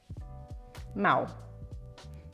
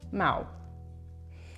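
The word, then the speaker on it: Mahou: Mau. Mau. So the H in Spanish is not pronounced. So it's as if it didn't exist. Mau.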